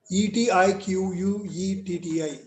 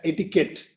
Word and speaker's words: etiquette: people right don't so you have to pronunciate this as etiquette it is not etiquet or it is not iquity etiquette is a symbol